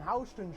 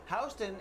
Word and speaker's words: Houston: fun fact about this Houston is actually spelled the same way as Houston it is but it's not pronounced that way whoa because New York